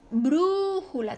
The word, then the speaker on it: brújula: se acentúa porque esdrújula brújula también es su sílaba tónica está la antepenúltima y es esdrújula por lo tanto se